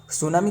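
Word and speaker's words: tsunami: सुनामी का spelling TSAU है, ध्यान में रखना, टी तो साइलेंट है, सुनामी डे, है ना।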